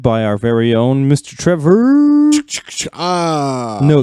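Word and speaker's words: Trever: our very own Mr Trevor no that is Trevor not Trevor yes spell it right or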